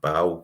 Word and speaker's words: Basel: The first European game I'd been to was Celtic against Basel, or Bal, whichever way you want to pronounce it, the Swiss champions.